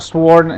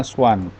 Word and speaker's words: swan: Kalau ini dibacanya swan. Swan aja, swan, tapi ada titik dua di atas itu loh. Swan, swan. Kalau swan itu hati-hati nanti ketukar dengan sworn ini, sworn.